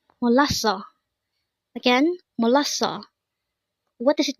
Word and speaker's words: 몰랐어: This is pronounced as a three syllable word. The first syllable is mo. Second syable is l. Third syllable is o. Pronounce it with me. Molaso.